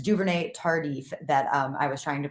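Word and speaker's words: Duvernay-Tardif: It's Duvernay Tardif that I was trying to pronounce there.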